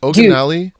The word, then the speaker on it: Oginalii: Is it Oginalii? Yeah, killed it.